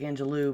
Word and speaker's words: Angelou: angelo angelo thank you i know it looks like angelou but it's angelo okay i just wanted